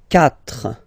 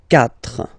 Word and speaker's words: quatre: Quatre. Quatre. Okay? So remember that even if you get this u vowel here, basically you don't pronounce it, because that's the rule in French. When we get this q letter and then a vowel after, then we will have to put this u, okay?